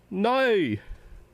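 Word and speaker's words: Noy: I'll pronounce it. N-O-Y with an exclamation point. N-O-Y, capital N-O-Y with an exclamation point. It sounds like this. Nay! Nay! Nay! N-O-Y, nay! Okay, can you translate it now?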